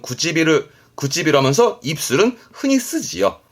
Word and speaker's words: 唇: 하지만 입술은 이렇게 해서 혼자 두면서 발음은 구찌비루 하면서 입술은 흔히 쓰지요.